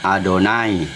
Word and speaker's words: Adonai: Adonai itu cara membaca yod, he, wau, he dalam bahasa tulisan Ibrani itu yang empat huruf tetragram itu tidak bisa dibaca karena huruf mati. Jadi, bangsa Israel pengikutnya Musa membacanya Adonai.